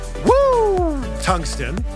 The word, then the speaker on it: Woo Tungsten: Actually, it's pronounced Woo Tungsten, because that's the sound you make when you catch a giant fish.